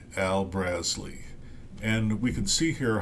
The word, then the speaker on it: Brazle: project U website and it's like BRZ like jazz and then Lee Le and uh it the accent is on the first syllable so I'm going with brazley Al brazley and we can see